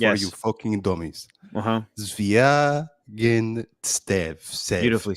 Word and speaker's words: Zvyagintsev: Zvyagintsev.